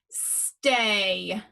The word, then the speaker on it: stay: Underline the digraph, The A is making the long sound. The Y is silent. Can you read number 1? Stay.